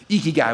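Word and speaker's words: ikigai: for the last two weeks prepping for this eeky guy we got it when you have that then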